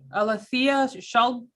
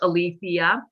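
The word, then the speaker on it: Alethea: i can and and you did mispronounce you and ten thousand other people so don't worry about that all right it's pronounced alithea perfect you have three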